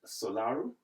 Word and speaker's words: Solaru: this conversation she's in the person of solaru did I get the pronunciation right yeah perfect okay so is